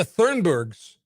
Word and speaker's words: Thunberg: More Greta Thunbergs.